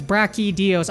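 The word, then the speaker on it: Brachydios: to brachios or bra yeah it's brachios I always got this one wrong so I think I still say it wrong but it's brachios so if you read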